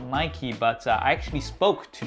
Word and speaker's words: Nike: Yes, I know a few of you guys are gonna say, "It's pronounced Nike Saf, not Nikey, but I actually spoke to Nike themselves and